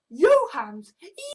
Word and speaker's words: Jahans: trolls have a look my name can be pronounced as your hands Stone to to turn